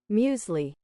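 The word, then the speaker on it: muesli: Sometimes uh Google has that pronunciation. Uh musli.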